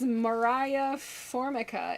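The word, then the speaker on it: Moriah Formica: find it did i did her name is mariah formica it's spelled m-o-r-i-a-h and then formica f-o-r-m-i-c-a and she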